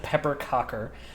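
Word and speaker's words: pepparkakor: cherry coffee, peanut butter and orange and Swedish ginger cookies called pepper creor pronounced like pepper cocker that I learned from my grandmother and then my friends and I do a skanky swap.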